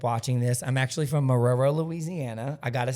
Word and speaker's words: Marrero: So if any of my friends back home end up watching this, I'm actually from Marrero, Louisiana. I got to say that. Aurora? Marrero. Marrero? Marrero. do I spell it?